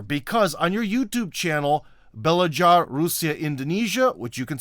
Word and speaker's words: Belajar: Indonesian soul brother because on your YouTube channel, Belajar Rusia Indonesia, which you can say later the proper way, Yeah. which has Well, actually, you pronounce it great. oh, so it is Belajar. Okay. Yeah, it's Belajar.